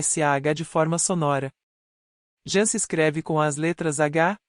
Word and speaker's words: Sah: Sar se escreve com as letras S, A e H. A letra H, tem o som de R.